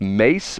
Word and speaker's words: Ma$e: He says he does a podcast with Mace, which is spelled formerly Mason Betha, which is MA$E, right?